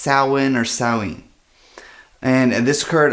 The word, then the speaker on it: Samhain: Now it's spelled S A M H A I N like Samhain but it's actually pronounced sow-ween.